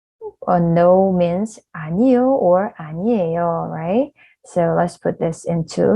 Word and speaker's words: 아니에요: so ' 안이에요' just make it smoother '아니에요' so this 'ㄴ' sounds move on to the next syllable, so '아니에요'.